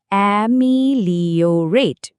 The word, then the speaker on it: ameliorate: উচ্চারণটা কিন্তু বেশ জরুরি। খেয়াল করে শুনুন। অ্যামিলিওরেট।